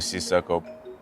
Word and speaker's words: Sissoko: the way you pronounce my name is Si Circle but back home people call me I'm from Mali West